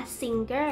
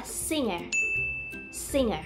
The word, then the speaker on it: singer: อ ก เ สี ย ง ว่ า singer น ะ ค ะ เ ร า จ ะ อ อ ก เ สี ย ง ว่ า singer โ ด ย ที่ เ ร า จ